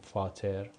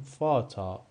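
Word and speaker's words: Vater: مثل فاتا مثل موتا ما این رو نمی‌خونیم فاتر می‌خونیم فاتا یا موتا پدر و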